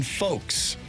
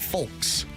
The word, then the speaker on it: folks: Nobody pronounces the L in folks. I guess I said folks.